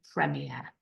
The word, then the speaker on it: premier: have in English or the same word but pronounced differently Premier okay 21 Kus well 20 is van now